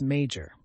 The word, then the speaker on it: major: The second word is major. The word major has two syllables, with the stress on the first syllable.